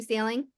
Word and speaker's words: Saling: to pronounce that no it's like you're either going for a sale and you're going to buy a house or you're on the ocean and you're going sailing right yep so today